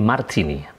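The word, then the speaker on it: Martinet: Orang menyebutnya atau membacanya Martini.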